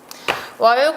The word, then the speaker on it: 월곶: 월곶 어떻게 발음 나나요? 곧 이렇게 발음 납니다.